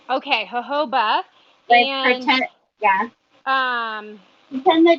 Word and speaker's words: jojoba: bah I've heard it I've heard it both ways but I think it's Huff oba okay jojoba thank you yeah then